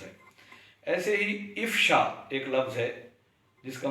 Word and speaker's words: افشا: ہے ظاہر کرنا۔ اس لفظ کو بھی عام طور پہ غلط تلفظ کے ساتھ ادا کیا جاتا ہے، اور افشا کے بجائے الف پر زبر کے ساتھ افشا پڑھ دیا جاتا ہے۔ ایسے ہی